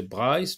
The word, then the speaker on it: Brice: texte sur mon ordinateur Brice nous on la prononcé Brice parce que c'est un nom anglais Brice rougissait souvent Brice